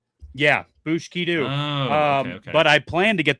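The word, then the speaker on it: Booshkedo: Oh, so it's it's bushkidu, not Yeah, bushkidu.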